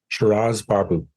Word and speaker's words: Shiraz Baboo: Shiraz Baboo.